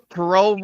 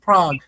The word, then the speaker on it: Prague: Yeah, you got Frankfurt Galaxy, Munich Ravens, Nordic Storm, Paris Musketeers, Prague Lions, uh Parole Raiders, and Parole Raiders. Yeah. and Wolfie, it's pronounced Prague.